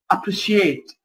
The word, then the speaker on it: appreciate: طيب زي هنا appreciate appreciate تنطق اس اتش appreciate.